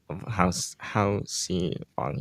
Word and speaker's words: Haoxi Wang: how and Eric did get the first name pronounced correctly. Good job. Um, but it is Haoxi Wang.